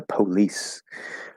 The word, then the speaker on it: police: like oh it's the police um sounds kind of funny but yeah the normal way to say it is with uh uh it's a schwa sound police police um police